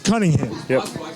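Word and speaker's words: Conyngham: and you know you the way it's spelled the way it sounds it spelled like Coney Island yeah people have a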